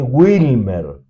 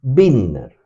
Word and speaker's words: Bittner: Lo van a leer en la traducción al inglés como que pronuncié Wilmer. Claro, puede ser por un problema de dicción, por una incorrección. Es Bittner. Bittner. B larga I-T-T-E-N-E-E-R. Bittner, doble T.